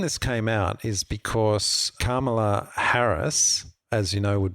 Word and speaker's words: Kamala: So you think of karma, good karma, Kamala Harris.